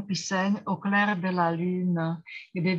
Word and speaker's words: lune: Já jsem tady nezmínila svou oblíbenou píseň Au clair de la lune, kdy vyslovujeme vlastně lune, lune na 2 slabiky.